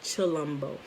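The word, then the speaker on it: Tshilombo: but the t s h is pretty it's pronounced chi like chalumbo and also once you get in you start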